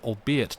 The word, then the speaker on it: albeit: Anthony lighten your anxiety the archaic word albeit does not rhyme with eight you see it with